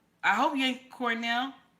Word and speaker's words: Cornel: mhm yeah I ain't lying I ain't lying Cornell West very intelligent brother very intelligent brother I